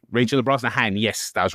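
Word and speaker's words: Brosnahan: Um, Rachel Rosnahan. Rachel Brznahan. Yes, that was right. So, I took note of that interesting pronunciation.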